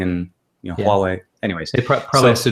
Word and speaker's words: Huawei: the way we say Huawei as a because it's it has an H in the beginning but we pronounce as if it has a w right so anyways he